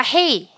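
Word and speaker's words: הא: 넘어가도록 하겠습니다 다음 글자는 다섯 번째 글자는 헤이입니다 따라해 볼까요 헤이 헤이 헤이 발음은 후입니다 흙 발음은 흐구요 이미지는 뭐 같으세요 창문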